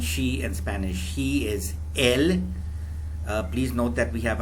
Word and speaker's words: él: Where we have the accent mark, we must emphasize that alphabet a little bit. So it's pronounced él.